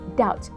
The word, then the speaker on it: doubt: Actually, the pronunciation of the word doubt is doubt. The B is silent.